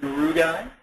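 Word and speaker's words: rugae: which is the palatin rugi or rug depending upon where you were schooled and how you pronounce uh it's terribly important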